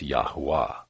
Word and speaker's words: Yahweh: the video on pronouncing yahweh's name we saw how the Creator's name is Yahweh Yahweh or perhaps yahwah we also saw how any of these pronunciations and perhaps even others might be equally valid seeing as yahweh's name